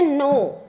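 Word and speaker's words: know: नो के एन ओ डब्ल्यू। के एन ओ डब्ल्यू है पर इसका प्रोनाउंसिएशन हम नो करते हैं।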